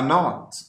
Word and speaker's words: knot: The K is silent too.